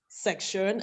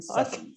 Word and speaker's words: session: Why then do you pronounce it as if it is S-E-C-T-I-O-N? Learning session. Okay. Session. Session. Go ahead, my dear. Go ahead, okay, my thank dear. you. Session. Thank you. Session. Different from section.